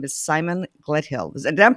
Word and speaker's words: Gledhill: that whole space and his name is Simon Gledhill and I'm pronouncing your last name correctly Gledhill you're pronouncing